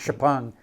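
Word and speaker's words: XPeng: and Shong it looks like xang but it's pronounced Shang um they said no we're we're not going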